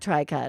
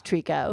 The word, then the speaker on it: tricot: and somehow I like it's not try cut everybody it's Treecko well you know it's